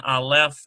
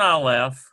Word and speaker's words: aleph: So that little accent mark they're talking about, I'll just write it out for you. Here's an Aleph, okay, and then they're putting this little thing under there. That's called a munah. And it means that this syllable has the accent.